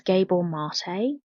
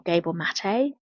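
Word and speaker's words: Gabor Maté: by an author called Gabor marate excuse me if I pronounced that wrong um but I think his name is Gable marate or gable mate and Orab bore mate and it's called scattered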